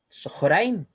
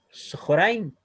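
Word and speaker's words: צהריים: Por lo tanto, según esta regla, nos dice que si tenemos una kamat antes de una hatet kamat, el kamat va a sonar como O. ¿Ya? Por lo tanto, ahí vamos a pronunciar como Sohoraim, Sohoraim, lo que se traduce como mediodía.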